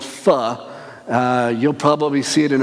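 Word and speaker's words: phở: common Vietnamese dish called feh you'll probably see it in America we call it pho cause if spelled pho but that's not how they say it and if you eat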